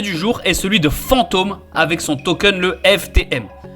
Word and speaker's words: Fantom: Attention à ne pas le confondre avec le Fantom, P-H-A-N-T-O-M, qui est le wallet de l'écosystème Solana. La prononciation est la même.